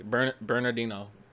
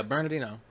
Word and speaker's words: Bernardino: the whole San Bernardino I almost never pronounced that work correctly burnt Bernardino yeah Bernardino a shooter terrorist attack